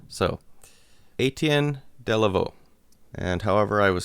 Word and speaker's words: Etienne Delavaux: And one, he told me how to pronounce his name. So, Etienne Delavaux.